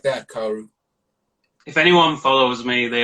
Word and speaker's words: Kaoru: They would always mispronounce the username anyway. You know, the handle. They'd like Kawaru, Kawarm. You know, just like random fucking shit versions of like, you know, when English people try to do Japanese names and they just butcher the pronunciation straight away.